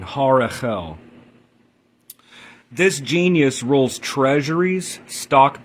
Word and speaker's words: Harahel: I think so I think it's fine to say horel but if you really want to be technically correct with the angel It's har it's a the second H so shim Angel 59 Harel this genius rules treasuries